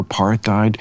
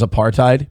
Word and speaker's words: apartheid: I by the way despise the way Bill Maher says apartheid because it sounds like he's trying to be the smart guy in the room by pronouncing the th and apartheid.